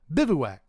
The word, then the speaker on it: Bivouac: It's not hard to pronounce. Everyone seems to have such problem pronouncing this guy. Bivouac. Marge Bouvier.